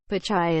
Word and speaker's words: Pichai: science and transportation committee pachai is pronounced pitch-like in baseball and chai like the latte or p i h chai but lawmakers came up with endless variations addressing him as mr picky mr pishid and more